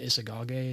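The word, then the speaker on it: Isagoge: Isagage is how you pronounce it.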